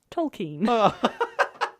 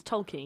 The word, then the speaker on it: Tolkien: Tolkien. Right? I thought that was so funny. He's not a keen student. It's how to say his name. It's Tolkien. Note to self. Say keen.